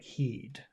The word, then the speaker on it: heed: right so if because if you say hit I'm not sure if you're saying hit like hit or if you're saying here and you're not pronouncing the r but it doesn't sound like heed because heed that e is very big especially because of the D at the end of the word yes yes so it's